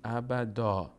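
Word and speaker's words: أبدًا: وایستادیم روی این کلمه نباید ابداً بخونیم باید بگیم بگیم بگیم ابدا ابدا خالدین فی ابدا مثلاً در مثال قرآنش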